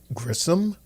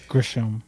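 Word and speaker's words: Gresham: Jonathan Gryom Gisham.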